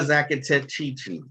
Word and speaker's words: Zacatechichi: Talia Zacatechichi.